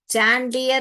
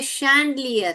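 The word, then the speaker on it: chandelier: चैंडलियर नहीं बोलते। यहां पे भी बहुत लोग इस च को डाल देते हैं। चैंडलियर बोलते हैं। यह कैंडलियर भी नहीं है। यह क्या है? शैंडलियर है।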